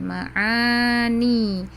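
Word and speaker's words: معاني: Ada yang ma'ani pakai ain, ma'ani.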